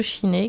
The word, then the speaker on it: Shiné: vous invite à participer à une méditation de Shiné qui vise à vous faire accéder au calme de l'esprit. Effectivement, Shiné, alors ça s'écrit S-H-I-N-E, je ne connaissais pas, cela signifie calme mental en tibétain.